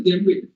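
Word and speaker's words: djembe: What is Jembe? D is silent.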